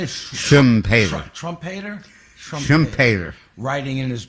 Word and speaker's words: Schumpeter: Schumpeter.